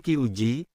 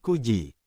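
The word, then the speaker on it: 九時: Jam .00 bukan siji tetapi yoji. Jam . bukan nanaji, tetapi siiji. Jam 09.00 bukan kiuji tetapi kuji.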